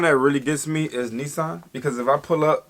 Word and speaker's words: Nissan: nah bro chill see so it's the Sun or how she said that Lisa the two s's were emphasized Nissan something like that this sun we say Nissan we say Nissan today